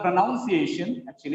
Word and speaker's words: pronunciation: The previous syllable is A, penultimate syllable is A, that is why it is pronunciation.